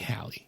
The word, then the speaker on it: Halle: Say her name again. Halle Berry. Halle. Oh, how would you like me to say it? Holly Berry. Holly? No, that's the Holly and the Ivy.